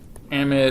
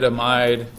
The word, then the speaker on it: amide: what's this functional group amid amide depending on what part of the world you're from uh the British pronounce